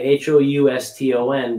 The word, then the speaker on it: Houston: new york city uh spelled the same way h-o-u-s-t-o-n but it's pronounced houston in new york new yorkers called